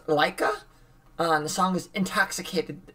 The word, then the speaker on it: LYKA: We believe it's pronounced Laika.